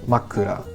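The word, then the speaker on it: まくら: and so, for example, the Japanese word makura has the pitch action structure high, low, low, makura.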